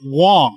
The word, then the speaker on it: Wang: It's spelled with an A, but pronounced like an O. But it's good that we tell people this, though. Excellent. So it's Garrett Wang.